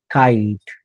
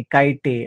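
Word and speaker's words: kite: paper after या पद्धतीने आणि जर शब्दाचा शेवट हा इ ने झाला शब्दाचा शेवट हा इ ने झाला आणि त्या इ च्या अगोदर कॉन्सोनंट्स असेल तर त्या इ चा कधीही उच्चार केला जात नाही जाणार नाही नेम गेम काईट लव कुठे आपण नाही कोमे काटे असं नाही म्हणत चा उल्लेख होत नाही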